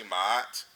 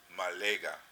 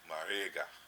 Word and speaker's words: Ma'at: So like when we say Ma'at, it's not really Ma'at. It's really Malega, Marega, because those two A's aren't really A's. They're, this is a K